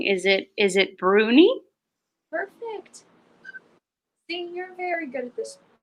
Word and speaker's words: Bruni: might say it wrong is it is it Bruni perfect think you're very good I might as